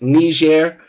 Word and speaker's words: Niger: He doesn't know that Niger is pronounced Niger rather than the N-word as he is trying to claim.